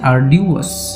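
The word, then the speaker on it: arduous: এটা একটা অ্যাডজেক্টিভ, এর উচ্চারণ হচ্ছে আর্ডিউয়াস।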